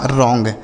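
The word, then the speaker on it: wrong: है इसे पढ़ेंगे एलोंग डब्ल्यू आर ओ एन जी तो डब्ल्यू यहां पे साइलेंट होता है आर से हो गया दोस्तों र ओ एन जी का ओंग हो गया यह लिखा गया आपका रॉन्ग ठीक है एस टी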